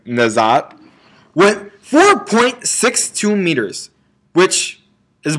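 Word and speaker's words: Nageotte: Also at the Millrose Games, Miss Katie Nazat, by the way, that's actually how you pronounce her last name. Well, right there, that's her Twitter, but you pronounce her last name Nazat, went 4.62 meters, which is 1 centimeter below her all-time PR.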